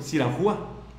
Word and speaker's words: Siranúa: María Guadalupe, te mando saludos ahí, tu esposo, tu marido, tu mariado Beltrán de Siranúa. ¿Cómo se pronuncia tu apellido, bato? Siranúa.